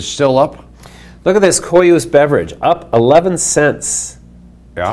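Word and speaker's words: Koios: Oh, how do you pronounce that? Coyuse.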